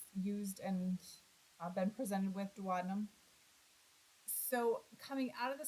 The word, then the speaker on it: duodenum: duodenum this is a term that gets different pronunciations some people will say duodenum I've always used and been presented with duodenum so coming out of the stomach into that